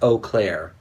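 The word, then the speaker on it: Eau Claire: ride you were right in your twitter it's pronounced oh Claire I just like saying boom clear okay like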